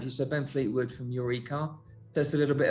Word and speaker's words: Your E-Car: so ben fleetwood from eureka tell us a little bit about you and and your eco or eureka as as it's supposed to be uh that's the one